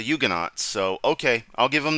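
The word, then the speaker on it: Huguenot: Christians just be no according to pronunciation on Wikipedia it actually is a yugan so okay I'll give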